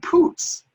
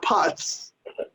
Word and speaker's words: Putz: their names for example it's jj putz not putts and it's john figgins